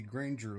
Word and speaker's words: Grange: The Grange political activism resulted in a flurry of legislation became known as the Granger Laws. Granger. Yeah, okay, I've been pronouncing it wrong. It's Grange.